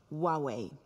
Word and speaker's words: Huawei: we have in store and remember it's pronounced Huawei Anka dirt how do you how do you